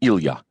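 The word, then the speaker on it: Ilya: When friends called him Ila, it was with the proper Russian pronunciation with the accent on the ya.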